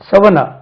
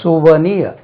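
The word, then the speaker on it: souvenir: வி என் ஐ ஆர் இது செவனார் அது ஏதோ காலேஜ்ல புக் போடுவீங்க இல்லையா செவனார் இல்ல சுவனியா சுவனிய சுவனிய இந்த வருஷம் செவன்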